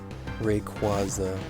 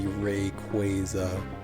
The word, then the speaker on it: Rayquaza: just accepted that because if you like phonetically sound it out it should be rayquaza unfortunately even though it